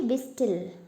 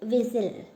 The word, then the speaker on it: whistle: We will not say whistle. It is whistle. Right. So T is silent.